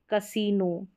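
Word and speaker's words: casino: तो इस रूल में आपको ये सारे शब्द दे रखे हैं, जैसे कसीनो, ठीक है, यहाँ पर आई का उच्चारण यानी बड़ी ई के रूप में।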